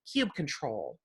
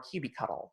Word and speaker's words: kubectl: the Kubernetes command line application, kubectl, or kubectl, or kubectl, or do whatever makes you giggle, because there's 5 or 6 different pronunciations for it.